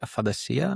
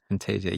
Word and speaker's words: aphantasia: Aphantasia? No, that's too Greek, the way that I said it, I think. Aphantasia. Aphantasia, yeah.